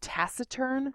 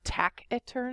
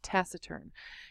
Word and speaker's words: taciturn: take a look at this first one it's pronounced taciturn not taciturn it's taciturn and this is an adjective so that means